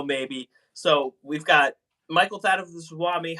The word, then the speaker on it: Thathuvaswamy: Even after 10 years, they're like, when they meet me for the first time, how do you pronounce your last Yeah, name? yeah. So it is Swami. Thathuvaswamy.